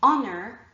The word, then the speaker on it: honor: Honor, our, ear, and honest all begin with an H, but the H is silent.